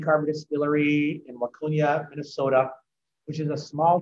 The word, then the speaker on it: Waconia: Carver Distillery out in, I'm going to say it wrong, it's not the Twin Cities, it's Waconia, Minnesota.